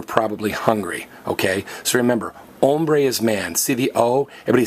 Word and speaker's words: hombre: hungry ok so remember hombres man see the Oh everybody say oh man go oh man and hombre is hungry and one final notice the H is silent you don't say hombre